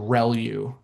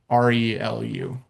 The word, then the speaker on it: ReLU: The the way you pronounce this is called relu. So relu r e l u usually how you'll hear that pronounced relu.